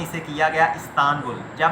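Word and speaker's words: İstanbul: अच्छा, ये हम उसको इस्तांबुल पढ़ते हैं, ये इस्तांबुल नहीं है, ये इस्तानबुल है।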